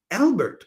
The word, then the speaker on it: Albert: that she would marry Albert or Albe as the French would pronounce it and so she does and and and and uh Vard can't handle it.